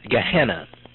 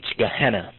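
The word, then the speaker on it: geenna: e n n a and when you have two e's together in the greek it just pronounces an eh gehenna now gehenna gehenna originally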